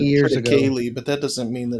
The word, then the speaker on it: triticale: triticale before? I haven't. I've always heard it Many said years ago. triticale, but that doesn't mean that it's right. Yeah. Triticale. Triticale. It's Latin. The language is dead.